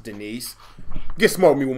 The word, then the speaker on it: Denise: Somebody, is there a D nicer? A D nice. It's pronounced Denise.